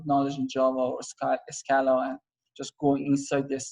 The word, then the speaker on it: Scala: developed by java and scala a scalar or whatever scalar i think is a better pronunciation but i mean you